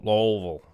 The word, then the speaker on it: Louisville: So in Louisville, I'm saying that right. Louisville. You gotta say it like you got a mouthful of gravel.